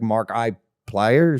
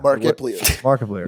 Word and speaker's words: Markiplier: longest time no one i thought was like mark i players yeah markiplier yeah that people think